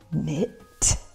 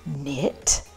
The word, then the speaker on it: knit: KN what is this knit this is also knit the K is silent so knit and knit